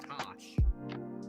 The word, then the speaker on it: Tash: It's pronounced Tosh.